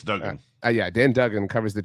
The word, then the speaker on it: Duggan: I don't actually know if it's pronounced Duggan or Duggan, but then I'm going to go with Duggan. it's Duggan.